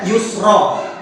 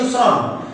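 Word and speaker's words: يسرا: nih dua-duanya bener Jadi kalau membacanya Yusra karena hukumnya mati ya bainnama'al Usri Yusra tapi kalau dia washal bersambung maka debatnya Yusron fainnama'al musyrius Rob Inna na'a Al Usri Yusra nah seperti itu jadi waqof maka dibacanya Yusra kalau dia washal maka dibacanya Yusron boleh nggak dua-duanya boleh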